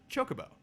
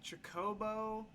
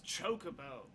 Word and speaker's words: chocobo: with several people that mispronounced the word chocobo it's true everyone they were all saying like Jacobo I think I remember